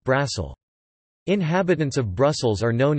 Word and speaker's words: Brussel: In French, Bruxelles is pronounced Bizzle, the X is pronounced, like in English, and in Dutch, Brussels is pronounced Brassel.